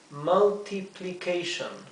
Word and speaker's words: multiplication: La U se pronuncia A, esta se pronuncia I, también se pronuncia I, la A se pronuncia A, y la O y O se pronuncia T y O se pronuncia shon.